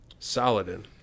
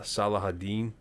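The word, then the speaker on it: Salah ad-Din: you are you um saladin oh yeah uh correct me from wrong i think in the middle east they they pronounce it uh salahaddin okay right i might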